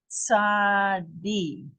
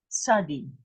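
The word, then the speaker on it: צדי: Tzadi. Tzadi. This is the tzadi. It's a TS. When you not, have a, yeah, it's not TZ, it's TS.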